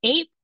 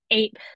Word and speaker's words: AIP: How do folks pronounce AIP as ape or as IP to rhyme with sip and dip? And the answers are ape, ape, ape, ape, ape, smiley face.